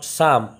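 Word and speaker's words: psalm: উচ্চারণ of certain short সাম দেখো পি এস এ এল এম সাম পি এর এখানে উচ্চারণ কিছু নেই ওটাকে বলা হবে হিম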